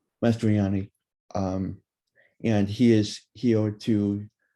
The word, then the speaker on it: Mastroianni: Mastr- Sorry, I don't know how to pronounce it. You're good. It's Jake Mastroianni. Mastroianni.